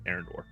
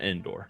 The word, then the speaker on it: Arendor: Yeah, Arendor, not Endor. So, I pronounced this correctly this time.